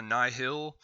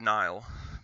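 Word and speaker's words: Nihil: the nile or the nyhil n-i-h-i-l i believe they pronounce it nile but whatever and uh the nile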